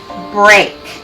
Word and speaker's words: break: And remember, E-A also can make a long A sound. Break.